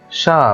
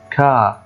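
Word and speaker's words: chat: بعده مباشره حرف الاش زي كلمه شا ما ينفعش اقول هنا كا خطا شا ليه قلتها شا ما قلتهاش كا عشان الحرف اللي بعده حرف الاش تمام فطبعا ا نطق شا وليس كا وشا معناها ايه قط كمان كلمه شيان شيان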